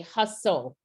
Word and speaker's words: hustle: Because this STLE, we say hustle, and this T is silent, right?